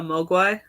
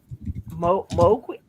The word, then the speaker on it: Mogwai: Mowgli. I don't even know how to say that. Mogwai.